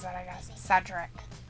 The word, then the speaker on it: Cedric: pronounces that i guess cedric not cedrick he'll retire if he